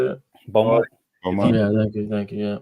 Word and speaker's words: Beaumont: Beaumont.